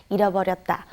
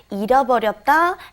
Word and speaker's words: 잃어버렸다: And like I said, they are interchangeable at certain situations, but you want to make it very clear when you pronounce it. It's very hard to say. 잃어버렸다 is I lost it.